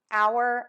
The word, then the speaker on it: hour: You can pronounce these words exactly the same, and they can be homophones, which are words that have different spellings and different meanings, but are pronounced exactly the same way.